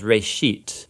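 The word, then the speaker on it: Bereshit: of it's called Genesis Genesis comes from a Hebrew word it's pronounced race sheet and it just means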